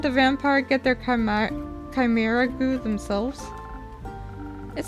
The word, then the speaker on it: chimera: this word so instead of how I was pronouncing it which was a Chima it's actually um it's actually supposed to be pronounced as Chimera so so thank you so much for that